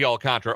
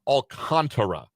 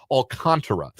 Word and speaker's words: Alcantara: that the Marlins are going to trade Sandy Alcantra or at least was would very much like to trade Alcantara. Uh Alcant Alcantara uh is the official pronunciation uh on baseball reference. Let me get it right. Alcantara.